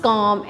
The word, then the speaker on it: calm: Last, the dash looks calm and smooth. calm, L is silent, calm.